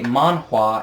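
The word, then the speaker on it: manhwa: to hear about Smaug why a man wah it is spelled ma n WH a is basically just the Korean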